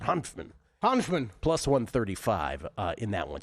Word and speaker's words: Hanfmann: Hanfmann is plus Hanfmann, I believe is how you pronounce it. Hanfmann.